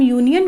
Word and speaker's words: union: क्योंकि यहाँ पर जब हम यूनियन को प्रोनाउंस करते हैं तो किस तरह करते हैं?